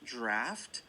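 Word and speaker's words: draught: word drought right draft sometimes the GH I don't know why you know sometimes it can be pronounced with the F sound like the word laugh for example laughter laugh you know that's spelled GA so again here drought you know it looks you know if for for an English learner to know that this word is pronounced draft that's just that's just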